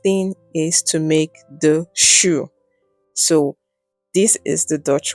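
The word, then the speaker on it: jus: is to make the shoe. So this is the Dutch word. It is called shu. And yes, it is spelled J U S, but it is pronounced shu in the Netherlands.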